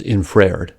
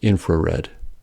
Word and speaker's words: infrared: intervocalic R for instance some Americans say the word infrared with an roled vowel as infraed but this is a mispronunciation that is it does not rhyme with impaired the r in infrared begins a syllable so it is a consonant sound and the correct pronunciation is infrared these are some more